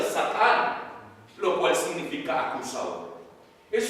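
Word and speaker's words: שָׂטָן: está hablando y Satanás la palabra Satanás viene del hebreo que significa que se pronuncia satán lo cual significa acusado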